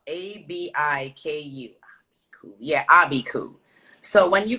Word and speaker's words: abiku: time right so it's called an abiku so it's spelled a-b-i-k-u yeah abiku so when you come from a